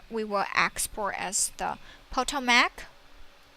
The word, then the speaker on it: Potomac: will export as the Potomac the name is so difficult to pronounce we say it's PO Tomac okay click run so